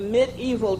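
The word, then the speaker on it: mediaeval: the outset of the media back in the mid evil time period and that whole terminology of that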